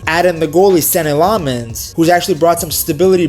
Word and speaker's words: Lammens: I say Lemons and they're going Lammens.